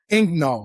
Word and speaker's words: Egnal: which is a top 50 business podcast, Ingnol. Right. Am I pronouncing right?